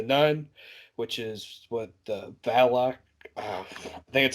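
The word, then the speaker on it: Valak: character like the nun which is what the valloc that's how you pronounce it but it's a demon spirit yeah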